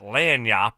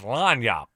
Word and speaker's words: lagniappe: Should be lagniappe. It's not lagniappe. It's lagniappe.